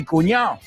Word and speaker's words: cuñado: The same thing with the D in cuñado. Are you sure there's a D in there? Because I've never heard anyone pronounce it. Mi cuñado.